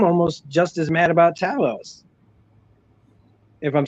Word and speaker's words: Talos: just as mad about Talos. If I'm saying it right, is it Talos? Talos? It's actually pronounced both. I know Sonia says Talos, Fury says Talos. Talos. Everyone's got an accent, Yeah.